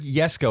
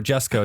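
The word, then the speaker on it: Jesko: I'm gonna keep saying Koenigsegg yesco or Jesco depending on what side of the pond you're on dude you're gonna get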